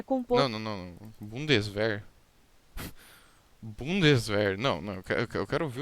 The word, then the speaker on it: Bundeswehr: Bundeswehr. Não, eu quero ouvir o termo do jeito certo de se falar. Ó, tradutor alemão. Bundeswehr.